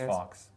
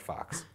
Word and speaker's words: Fawkes: I don't know how it's pronounced. F-A-W-K-E-S. Fox. I think Fox.